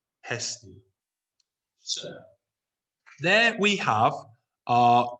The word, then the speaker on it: Hestia: And the final one, Hestia. Hestia.